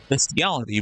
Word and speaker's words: bestiality: sex with them be bestiality still? Like how does that work? Like having sex with a fucking chimp is bestiality, but I say bestiality because that's how it's spelled. There's no A in it.